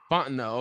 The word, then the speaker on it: Fontenot: Fontenot.